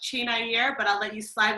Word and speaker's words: Chinyere: I give you Miss Chinyere Vann. That's right. How are you, Dave? It's actually pronounced Chinyere, but I'll let you slide with Chinyere.